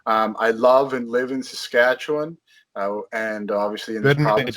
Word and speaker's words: Saskatchewan: was born in Manitoba, we pronounce it Wan, not Win or whatever other crazy way of doing it. As in Obi-Wan. Oh, as in Obi-Wan, exactly. Saskatchewan.